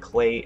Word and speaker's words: Klei: about that it is by Clay entertainment I believe that's how you pronounce it clay and they've done other